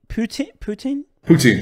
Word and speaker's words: poutine: But yeah, how do you pronounce that chips you guys eat? Poutine. Is that how you? Poutine?